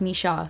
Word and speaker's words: Misha: the first book um it's not Mees like I thought it's Misha but I am really